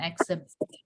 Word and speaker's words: exhibition: exhibition. Ya. Jadi dibacanya exhibition gitu ya, exhibition.